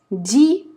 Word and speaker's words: dis: Dis, S не читаем.